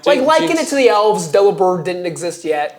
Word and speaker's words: Delibird: Yeah, because it's delivered, but with bird, so delivered.